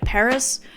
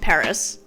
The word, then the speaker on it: PVRIS: In this video, I want to do my girl, Lynn Gunn, some justice, along with her band, PVRIS, and that's spelled with a V.